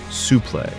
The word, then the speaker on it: suplex: He'd call a vertical suplex with that unique academic sounding pronunciation, su-play.